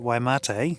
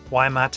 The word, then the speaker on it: Waimate: out at Waimate.